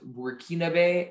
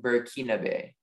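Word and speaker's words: Burkinabe: bay and can i have the prince alternate pronunciations again there is burkina bay and burkina bay okay burkina bay b u r k i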